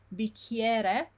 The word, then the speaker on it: bicchiere: bicchiere, again, the I and E, ie, it's not E, it's ie.